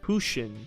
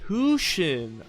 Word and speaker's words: Huxian: Last but not least, we have Hushin, or Huxian. Is it Huxian? Is it Huxian or Huxian? It's proper Chinese pronunciation. Hushin. Oh, it's Hushin.